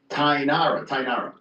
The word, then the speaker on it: Tainara: Tainara.